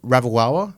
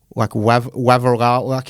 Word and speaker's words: Ravalawa: Ravalawa. Oh, got it. Yeah, but I'm always like put the W like Wavarala, and it always gets mixed up.